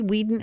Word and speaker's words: Wieden: Wieden and You, and Wieden is W-I-E because I before E except after C. That's right. It's a German name, and I was always saying, well, I-E in German is pronounced E, and it's just a